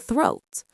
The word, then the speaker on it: throat: And throat. Throat. Be sure to get that th sound by putting your tongue between your teeth and blowing air.